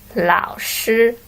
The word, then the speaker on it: 老师: And if we look at number 1, we should, according to this sound particles, we should pronounce as 你好. Question E. The answer is number 1, 老师.